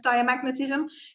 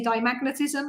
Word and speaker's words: diamagnetism: And as you can tell, I have no idea how to pronounce diamagnetism because I always drop the A and just say dimagnetism, and that's not actually correct.